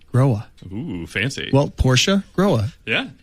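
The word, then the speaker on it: Grohe: because i got corrected when i called uh growing manufacturing or tonight i was getting some tech support they said it's growa ooh fancy well porsche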